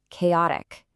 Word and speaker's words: chaotic: Chaotic, an adjective. Pay very close attention to the pronunciation here. Even though it starts with a ch, we use a hard k sound.